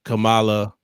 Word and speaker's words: Kamala: I, Kamala. She was like, let me pronounce it the way it's not Kamala.